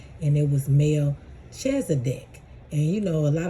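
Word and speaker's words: Melchizedek: So I looked up the pronunciation and it was Melchzdc.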